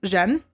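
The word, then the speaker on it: 震: The first area is family, which is pronounced Zhen.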